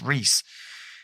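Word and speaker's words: Reuss: It's Reese. It's spelled R-E-U-S-S, but I remember it was not pronounced near that.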